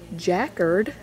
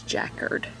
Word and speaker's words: jacquard: percent spandex dark purple floral jackard as jen has said is the proper way to pronounce that i just can't do it i'm gonna say jacquard but apparently the proper way to pronounce that is jackard and then here is